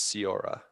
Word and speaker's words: Siora: So Sorry, Sora. I keep saying Sora. yeah, I think I'm saying it wrong as well. I think Ryan has had the best pronunciation. The narrator says it's Siora.